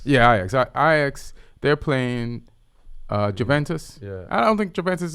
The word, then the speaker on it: Juventus: I prefer if you call them Juventus. Say what? Juventus. Juventus. It doesn't. You don't pronounce the G or the J.